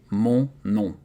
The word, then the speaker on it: mon nom: It's funny because in French, O and N and O and M are pronounced exactly the same way. Mon nom.